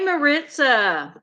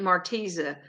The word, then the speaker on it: Maritza: how are you it am I saying your name right Maritza because I've heard some people say it marteza and I just wanted to know if I was saying it right or they were saying it incorrectly yes I got it